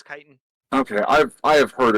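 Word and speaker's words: chitin: way it is pronounced kiten the CH is the Greek version which is okay I thought it was chitten nope it's Kiton okay I've I have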